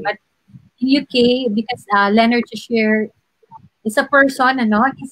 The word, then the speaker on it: Cheshire: Actually, in UK, it's Cheshire, but when you're here in the Philippines, it's Cheshire, no? Nasanay kasi sa Pilipinas, Cheshire, but in UK, because Leonard Cheshire is a person, ano?